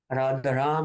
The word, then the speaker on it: Rama: People say Hare Ramo, Hare Ramo. It's actually Ram according to Sanskrit pronunciation, but the Bengali dialect has changed it, and that has become